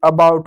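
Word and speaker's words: about: जैसे ए बी ओ यू टी अबाउट हो गया, सी ए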